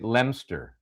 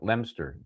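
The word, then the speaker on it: Leominster: Now try I'm going to say Lemster. I'm going to go with it's L E O M I N S T R. Lemster.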